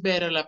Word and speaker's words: better: Nada más es better la pronunciación. Better. Porque bitter se escribe así, existe, es amargo. Entonces, cuidado con confundirlas. Esto es amargo, bitter, y esto es mejor, better.